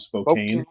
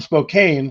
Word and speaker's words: Spokane: state away right and everyone butchers his channel name because they're not from this part of the country though it's called Spokane Washington right but but they call them Spokane because you know I